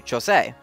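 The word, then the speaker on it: José: my bad but uh his name is not pronounced Jose that's the Hispanic pronunciation and the pronunciation they've been using since House of Mouse but uh the Brazilian Portuguese pronunciation is actually chose um and they got right in the original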